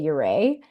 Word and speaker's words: Ouray: Nobody really knows what the proper pronunciation is. Most people locally say Uray. Okay. But upon first sight of that word, it only makes sense to pronounce it Uray. Yeah. So it's a Ute word, and nobody's super clear on exactly the pronunciation.